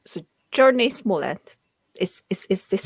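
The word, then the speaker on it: Jurnee Smollett: So Journey Smollett.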